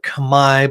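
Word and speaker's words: Khmer: area were made by the Camair it's pronounced or Kami but most people say Camair builders who lived about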